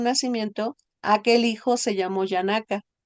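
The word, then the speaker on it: Janaka: Yanaka. Yanaka. Yanaka. J-N-A-K-A. Yanaka. Gracias, Yanaka. maestro Krishna. Sí, Gracias. tiene que pronunciar bien porque nos confunde a todos.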